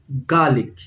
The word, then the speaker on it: garlic: So again, the stress is on the first part of the word, garlic.